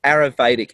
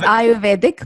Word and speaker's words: Ayurvedic: is i've gone down the aerovedic eating um i know i'm pronouncing that how do you say that word in indian is it arabic uh close it's it's ayurvedic but it's very hard